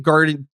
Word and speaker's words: Gardnerian: He's since undergone initiations in an eclectic gardenarian. Is that how you pronounce that properly?